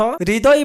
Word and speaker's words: হৃদয়: যেমন তোমরা দেখতে পাচ্ছ হৃদয় বানানে হ এর সাথে র যুক্ত হওয়ায় আমরা RHI দিয়ে লিখেছি।